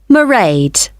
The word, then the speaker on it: Mairead: you'll see my assistant Mairead sorry how do you spell that it's M AI e a D Mairead okay got that it's not a name I'm familiar with oh it's an Irish name she comes from Dublin